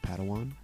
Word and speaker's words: padawan: a pad one to this bold jedi it's pronounced padawan oh padawan excuse me hey it's getting late